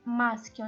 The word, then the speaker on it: maschio: Now the consonant M, for the maschio example, maschio. As you can see, the C plus H always pronounced K.